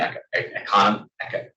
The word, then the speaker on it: Economica: The Poverty of Historicism is published in Economica. That's how you pronounce it.